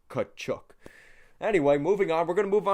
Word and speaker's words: Katchouk: And it's spelled a little different than the Katchouk brothers. It's actually like how it sounds, like Katchouk.